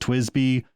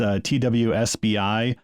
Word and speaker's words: TWSBI: But then I hit upon this company called it's sometimes pronounced TWSBI, but it's TWSBI, and they make a pen which is perfect for beginners.